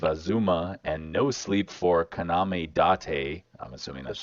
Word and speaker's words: Kaname Date: Factory, Guardians of Azuma, and No Sleep for Kaname Date. I'm assuming Yes, that's how you sir.